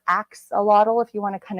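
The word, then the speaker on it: axolotl: really cute little creatures it's spelled a x o l o TL so it's with an a in the front so it's ox or Axe A lottle if you want to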